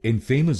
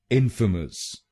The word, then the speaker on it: infamous: अगर आप इस शब्द को इनफेमस बोलेंगे तो गलत होगा। चलिए सीखते हैं इसकी सही प्रोनाउंसिएशन। इसकी सही प्रोनाउंसिएशन है इनफेमस।